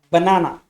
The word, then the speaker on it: banana: that syllable for example the word banana has the accent on the second syllable it has stress on the second syllable so it is marked as banana it is pronounced as banana look at this sentence